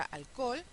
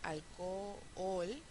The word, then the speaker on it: alcohol: ejemplo en la palabra alcohol. Una posibilidad sería alcohol, ¿sí? Alcohol, alcohol, pero vimos en clase que podemos decir también alcohol, con lo cual nos ahorramos una sílaba.